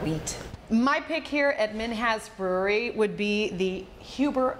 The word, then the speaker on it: Minhas: So again, I think most people think it's Minhas. But yeah. They said it's Minhas. Minhas, like has.